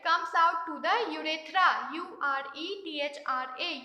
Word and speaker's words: urethra: urinary brother it comes out to the urethra u r e t h r a u ratra it is pronounced as urethra okay so these are the